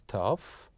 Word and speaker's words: tough: Like, for example, enough, don't laugh, I know it's tough, but it is lots of fun. And here we have the word enough, laugh, tough that ends with GH, they pronounced as the F sound.